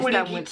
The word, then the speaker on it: Buligita: And this Buligita.